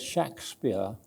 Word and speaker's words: Shakspere: the man from Stratford I'm going to use a word shack spear for the man from Shack from stress on Aven because that's the term he usually used always with a short a shack spear or shack a or when X or whatever never never used the word Shakespeare with an e and still less with a hyphen so over here is